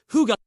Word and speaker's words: hygge: The answer lies in one beautiful word, hy pronounced huga.